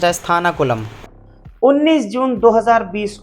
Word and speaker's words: Sathankulam: Place सतानकुलम is pronounced S थानाकुलम।